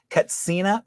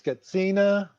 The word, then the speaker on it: Katsina: there a difference because I've heard people pronounce Katsina or Kachina is there a difference is there a preference the preference is Kathina but the sound is it's difficult even right as a Kachina or Catina but it's it sounds